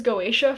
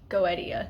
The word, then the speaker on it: Goetia: always pronounce it as Goetia, and it's not that. It comes from a Greek word, and it is Goetia. You pronounce like each syllable, each vowel individually.